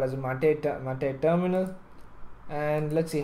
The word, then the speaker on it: MATE: mate instead of calling M they call it mate Kaja Kaja which which how we pronounce normally is pronounced as kaha anyway moving